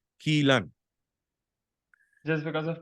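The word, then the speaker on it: Kylan: to us and say it is not Kyan it is pronounced as Kean just because of pronunciation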